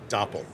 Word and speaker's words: Doppel: Which is funny because some people will mispronounce it without catching the whole Doppel like dopel or something or That's it.